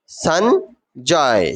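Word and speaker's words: Sanjoy: সঞ্জয়, সঞ্জয়, সঞ্জয়ও বলা যায়, সঞ্জয়ও বলা যায়। উচ্চারণটা হবে সঞ্জয়। কি হবে? সঞ্জয়। কিন্তু এখানে ইংরেজি বানানের ক্ষেত্রে এটা ও এর মতন হয়ে যায়।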